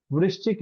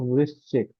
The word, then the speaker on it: वृश्चिक: वृश्चिक इसको बोलते हैं। इस तरह से प्रोनाउंस होगा। वृश्चिक एक पैटर्न देखिए कि